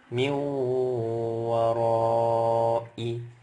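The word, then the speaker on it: مِنْ وَرَاءِ: Nunnya diidghamkan, dileburkan masuk ke huruf waw. Jadi nunnya nggak dibaca lagi. Tapi ingat bi gunnah dengan dengung. Jadi bacanya min warai.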